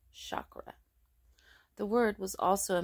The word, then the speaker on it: chakra: sankrit is actually c-a-k-r-a though pronounced with a CH as in church hence the English spelling chakra the word was also